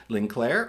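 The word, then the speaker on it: ligne claire: to it, which is called Linclair, or at least pronounced in English, it's that, which translates to clean line.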